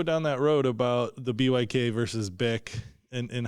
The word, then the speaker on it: BYK: that road about the BYK versus BIC and how it can even be more confusing than we realize? Oh, yeah, absolutely. Technically, it's neither. I think the German pronunciation is like book.